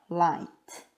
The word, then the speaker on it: light: 영어로는 이렇게 쓰고 발음은 light라고 해요. light. 여기에서 GH는 소리가 안 나는 거예요.